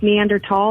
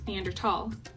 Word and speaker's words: Neanderthal: Whoa, it's pronounced Neanderthal, not Neanderthal? Yeah, that's a common misconception many people have. Even though it's spelled with a TH, the name comes from the German language, and the first undisputed